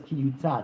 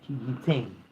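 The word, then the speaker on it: כִּי יֻתַּן: water will be placed, but it spells it without a vav, but rather yud taf nun, kiyitain, when he will place. So it's spelled as when he will place, but it's read as when it will be placed.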